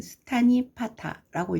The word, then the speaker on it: 수타니파타: 수타니타파라고 읽게 되는 수타니파타라고 읽게 되는데, 수타가 말, 경 그런 뜻이고 니파타가 모았다 이란 뜻이라고 합니다.